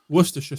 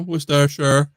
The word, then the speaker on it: Worcestershire: Must be a similar soy sauce, Worcestershire sauce, barbecue spice.